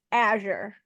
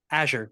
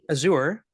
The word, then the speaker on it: Azure: we just get it on record it is pronounced Azure Azure yeah all right you can call aour that's what I keep hearing and I don't